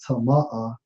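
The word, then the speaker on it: טָמֵא: Hey, bro, and if you look at the term polluted in the Hebrew, it's Strong's H2930, pronounced as tama'ah, and it means to be unclean, sexually.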